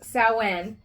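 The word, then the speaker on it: Samhain: I mean sin it's spelled Sam ha it's pronounced saen is Halloween and absolutely that's that's the witches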